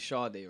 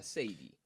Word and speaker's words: Sade: So if you don't know her, then you might call her Sadie. Okay. But her name is Sade, and she will tell you that. But people will still then say, "Oh, Sadi or Sadie."